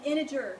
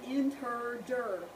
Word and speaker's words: integer: one it is an integer not an inter that sounds as bad as it looks when you say it so how to pronounce it iner that's a j not a g don't call them integers